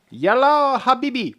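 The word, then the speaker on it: يلا حبيبي: You've said it wrong. Yeah. Yalla Habibi. Perfect.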